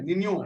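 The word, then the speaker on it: Niño: ना के ऊपर ये एक निशान होता है, तो ये नीनो नहीं है, निनियो, निनियो इसका प्रोनाउंसिएशन होता है, एल निनियो और ला निनियो।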